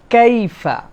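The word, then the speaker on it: كيف: 2 নম্বরে কাইফা, এখানে মনে রাখতে হবে কাইফা, এই যে ইয়াটা, এটাকে বলা হয় লিন। আরবিতে একটা কায়দা আছে লিন, এটা হচ্ছে নরম করে উচ্চারণ হবে, ইয়ার উপরে সাকিন, আগে যদি জবর হয় তাহলে আমাদের জন্য এই ইয়াটা কাইফা এরকম যেন না হয়, কাইফা, কাইফা, মানে এটা একটা নরম হবে, লিন।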